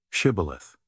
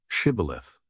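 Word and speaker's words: Shibboleth: If he said no, then they said to him, "Now say shibilith." And he said, "Shibith," for he couldn't manage to pronounce it correctly.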